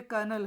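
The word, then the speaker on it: colonel: lieutenant जैसे इसमें आप कर्नल का भी स्पेलिंग याद कर लीजिए सी ओ एल ओ एन ई एल ये कर्नल है क्या है कनल मेजर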